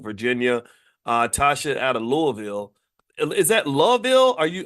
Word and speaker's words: Louisville: or Louisville you say Louisville like you got to kind of like blur all the word blur the whole word together and kind of L Louisville it's got to come